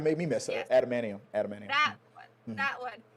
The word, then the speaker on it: adamantium: So ultimately, are the people who put the antimandium? How do you say that? Antimandium? Atamani. Now you made me mess up. Yes, Adamantium.